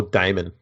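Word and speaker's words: daemon: monster demon demon demon spelled with an a as well d-a-e-m-o-n okay okay so more damon damon like damon hill yeah kind of yeah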